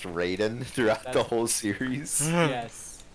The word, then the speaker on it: Raiden: thinking of asking so is it like actually pronounced Raiden throughout the whole series yes it's spelled it